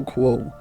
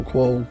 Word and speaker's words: quo: Basically, quid pro quo, I'll do you something and you'll owe me, you'll do me something. Quo is pronunciated kind of like you would say status quo.